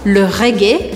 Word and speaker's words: reggae: Le jazz, le rap, la salsa, la musique classique, le reggae, que se faz a sílaba forte no final, le reggae, la techno, ou encore la musique électronique.